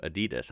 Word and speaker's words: Adidas: But you know, VW for short, and then Adidas. I'm sorry, that's pretty weird. It's not weird because that's correct way to say it. It's weird to me because I'm so used to Adidas.